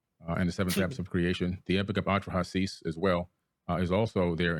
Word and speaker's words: Atrahasis: And the 7 tablets of creation, the Epic of Atrahasis as well, is also there in the Old Testament. Several other Atrahasis is how it's normally pronounced, and also same deal, same Near Eastern flood myth.